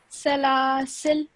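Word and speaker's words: سلاسل: Salasil. Well done. Okay, so you would end your sound at the lam, okay, because it has a sukoon.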